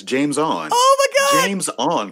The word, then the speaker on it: Jameis: are you talking about jameis and curry no you've you've got it wrong it's only two syllables sir it's james on oh my god james